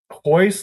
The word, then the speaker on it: Royce: yeah, but that's, actually, it's Brazilian Portuguese, ours are H sounds.